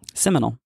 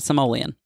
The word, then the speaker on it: Seminole: Seminole, not Simoleon.